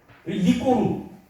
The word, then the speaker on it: 이극로: 리꼬르 이금노를 중국말로 발음하면 리꼬르라고 합니다.